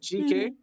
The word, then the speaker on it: Geekay: So it's pronounced GK, as it's an acronym.